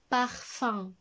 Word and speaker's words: parfum: Et la dernière écriture du son 1, c'est avec UM, comme dans le mot un parfum. Parfum. Là, le parfum.